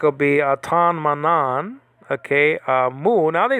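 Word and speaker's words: μ: It's pronounced in 3 different ways that I heard: mu, mu, and me. Mu and mu will be for biblical Greek. Me will be for modern Greek.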